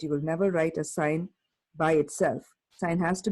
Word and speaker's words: sine: function is called the sine function si n e as a shortcut we write si n so please do not pronounce it as sin its sine sine of an angle